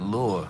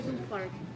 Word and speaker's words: du Parc: I've been saying it Lure. Oh my goodness. How do you say it properly, the name of the cafe? Huh? Cafe du Park with D. Du Park. Du Park.